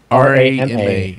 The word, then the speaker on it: Rama: Rama. It's really That's easy. mysterious. That's an easy one to do. It's right? like ramen noodles, but without the N.